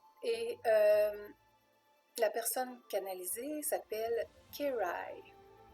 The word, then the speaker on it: KejRaj: Et la personne canalisée s'appelle Kerai. On le prononce comme ça, mais ça s'écrit K-E-J-R-A-J.